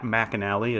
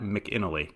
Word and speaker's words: McAnally: Matt, thank you to Twitter user Louis5488, who corrected my pronunciation of Pat McAnally's name. Pat McAnally, as you'll recall from the last episode, inventor of starting lineups figures. I think I said Pat McInally. I pronounced it wrong, and I did find